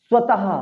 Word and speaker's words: स्वतः: स्वतः। क्या होगा? स्वतः। इसको स्वतः नहीं बोलेंगे, इसको अतः नहीं बोलेंगे, अतः। स्वतः। लास्ट में हा का उच्चारण निकलना चाहिए।